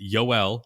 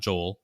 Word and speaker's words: Yoel: It's Yoel, not Joel.